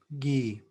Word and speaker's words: Guy: G, G yeah, just think about it as like GYY, Guy.